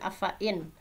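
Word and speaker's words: أفإين: Nah, ini afa, ini kan harusnya dibacanya panjang ya. Fa diikuti alif. Ini alif diikuti sebelumnya fathah kan biasanya afa'in, tetapi ini adalah dibacanya pendek. Ini adalah salah satu ayat gharib ya. Afa'in. Nah, sehingga nanti kalau ngajarin ke anak, ada pelajaran afa'in, hati-hati fa-nya dibaca pendek.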